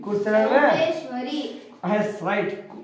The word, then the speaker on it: ಚೌಡೇಶ್ವರಿ: ಶ್ವ ರಿ ರಿ ಕೂರ್ಸಿ ಚೌಡೇಶ್ವರಿ S right ಚೌ ಡೇ ಶ್ವ ರಿ ಚೌಡೇಶ್ವರಿ ನೋಡಿ ದೀರ್ಘ ಇದೆ ದೀರ್ಘ ಉಚ್ಚಾರ ಮಾಡೋಣ ಚೌಡೇಶ್ವರಿ ಚೌಡೇಶ್ವರಿ ರೈಟ್ ದ